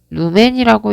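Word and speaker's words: lumen: 자, 아까 처음에 이렇게 전구에서 나오는 것을 광속이라고 했고 LM, 루멘이라고 읽는다고 했습니다. 자, 이때 이 세기를 나타내는 것을 광도라고 했고 칸델라라고 읽는다고 했어요.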